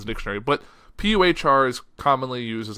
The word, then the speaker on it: Puhr: It looks like Puhr, like an animal a cat make.